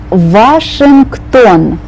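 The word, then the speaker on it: Вашингтон: after me in Russian Washington and you start on the V sound not the W sound Washington Washington Pasha Pasha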